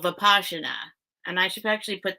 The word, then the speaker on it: vipassana: think that's right it's papa na but it's pronounced vipassana it's um hindi i think and um that